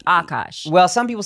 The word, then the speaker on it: Akaash: If you're Indian and you mispronounce it, like if you say Akaash, it's like you know better. It's Akaash. There's like a strong K with it. The accent. But it hangs on the A, right? So it's Akaash.